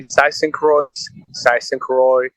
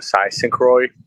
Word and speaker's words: Zeistencroix: so good I mean there's no right or wrong way to pronounce it you can say Dyson Crossing or size synchroy however you want to say okay well for those